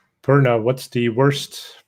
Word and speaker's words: Purna: I've heard prune. I've heard. The worst one I've heard is. I'm like, no, no. Purna, please.